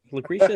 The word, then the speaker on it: Lucretia: Lucretia?